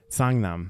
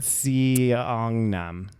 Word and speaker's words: Seongnam: say it, Daniel? Songnam. Well, now you know how to say it I know, because I said it. because I would have said. I should make you say it. I know. I would have said Seongnam.